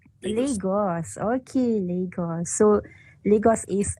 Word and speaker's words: Lagos: Lagos. Lagos.